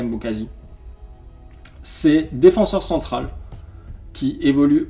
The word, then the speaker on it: Mbokazi: Alors là la prononciation c'est catastrophique mais Mbokasi on va l'appeler Mbokazi.